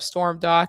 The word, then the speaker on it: Stormdok: I always say it's like storm and then dock like the boat dock but without the sea.